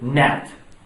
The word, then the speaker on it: gnat: And I raised my hand and I said, gnat, with a silent G.